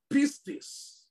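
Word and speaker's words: πίστις: The word faith comes from the Greek word pistis. I will spell that for you.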